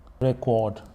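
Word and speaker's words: record: वाज़ एंड वज़ रिकॉर्ड अगर जब यह नाउन होगी जब यह नाउन होगा तो इसका प्रोनंसिएशन होगा रिकॉर्ड रिकॉर्ड रिकॉर्ड्स।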